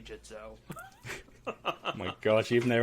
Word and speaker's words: Gitzo: I'm like, "It's apparently Jitzo."